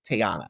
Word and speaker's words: Tayana: Am I pronouncing your name correctly when I say Tayana?